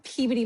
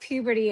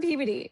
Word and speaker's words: Peabody: So, I'm from Peabody, Massachusetts. Um not puberty as some people think it's pronounced cuz they're like, "Where are you from?" So, I always say Boston. So, I'm from Peabody.